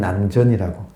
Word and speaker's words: 남전: 남천이라고 적고 발음은 남전이라고. 조주 스님의 서성이 남전인데 천자가 샘천자거든요. 남쪽 남자에 샘천자로 쓰고 발음은 남전이라고 해요.